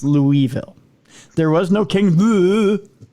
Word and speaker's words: Louisville: okay there's your proof I I say Louisville because that's what it is it's Louisville it's not it's Louisville there was no King